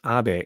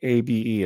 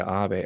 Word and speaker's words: Abe: Her birth name is Abe, A-B-E. It's not Abe, it's pronounced Abe. It's a Japanese name.